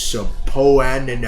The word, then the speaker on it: subpoena: I just wanted to tell you it's subpoenaed.